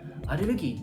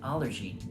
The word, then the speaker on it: allergy: かと言うとアレルギーって言うんですよアレルジーって発音するんですけどあのなんかそうそうあ